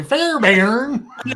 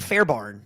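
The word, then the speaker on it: Fairbairn: of names until you heard the announcer say fair bar exactly I thought it was I thought it was like Fair Barn like fair fair be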